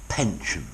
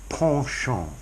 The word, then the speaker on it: penchant: there students partial partial I did look up the American pronunciation and the Americans say penchant but as a good middle-class Brit I would say Porsche on to have a Porsche